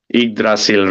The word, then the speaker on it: Yggdrasil: Yggdrasil. Yggdrasil. Now I pronounce it correctly, right, Evelyn?